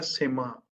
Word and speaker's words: सिंह: तो ये संस्कृति का वर्ड है सिम्हा। सिम्हा बोलते हैं, सिंह नहीं बोलते।